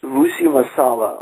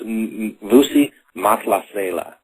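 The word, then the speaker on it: Vusi Mahlasela: Tell us about working with Vusi Masala on the song Thula Mama, and I hope I wasn't butchering those pronunciations. Yeah, it's Vusi Matlasela is how it's pronounced, and he's from South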